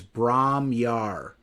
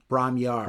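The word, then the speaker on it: Bron-Yr-Aur: called I believe it I believe the pronunciation is Brahmar. Brahmar I believe I believe is the pronunciation, but something like that.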